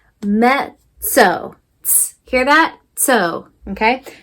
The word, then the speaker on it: mezzo: If this was an English word, it would be mezzo, okay? But in Italian, these 2 Z's, we say it as a quick sizzle. It's kind of like tss. So we say it mezzo, mezzo.